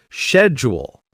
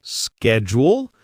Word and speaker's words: schedule: Schedule. Americans say schedule. British say schedule. Both fine.